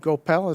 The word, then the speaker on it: Gopel: Is it Gopel? Is it how you pronounce it, sir? Yes.